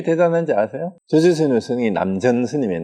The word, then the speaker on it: 남전: 조주 스님이 남전 스님이에요. 남천자인데 남전이라고 읽어요.